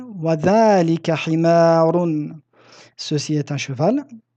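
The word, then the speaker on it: ذلك: Dhalika, de même que hada, comprend une lettre prononcée qui ne s'écrit pas, qui est le alif. Je l'ai écrit ici en rouge, donc dhalika, dhalika. Nous disons dhalika bil mad et nous l'écrivons dhalika.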